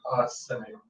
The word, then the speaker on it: Simic: Simic. Yeah. S-I-M-I-C. It's got a lot of eyes. Like mimic, but with an S.